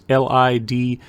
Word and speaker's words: Lidl: If you've ever been to it, it's LiDL, it's pronounced Lidl, and they have deals every week.